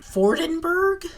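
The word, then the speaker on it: Vordenburg: an e and also using the German pronunciation should probably be um fordenburg because the German V is similar to the English f fordenburg is the descendant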